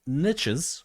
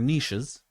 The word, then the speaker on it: niches: There are certain niches or niches, depending where you are, that's how you pronounce it, that, for example, they just don't check their emails, right?